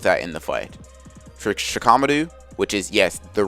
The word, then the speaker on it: Shikamaru: For Shikamaru, which is, yes, the right way you pronounce it, she knows that his lack of